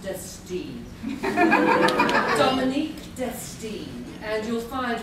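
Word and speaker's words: Destine: our board of directors and isin but it's pronounced dtin Dominique dine and you'll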